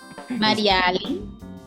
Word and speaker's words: Marialy: Mariali.